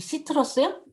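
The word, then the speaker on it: Citrus: 어디 시트러스요? 네, 시트러스. 시옷으로 시작하겠죠. 거기 I 앞에 C는 뭐라고 하냐면 시옷으로 발음해야 돼요.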